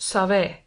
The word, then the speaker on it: Sèvres: The name of the town is pronounced Save.